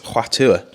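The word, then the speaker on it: Hua Tuo: I can, I've told you, it's Huatua.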